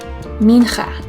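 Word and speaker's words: מנחה: Mincha is spelled like this: Mem, Nun, Chet, Hey. Let's say it together. Mincha.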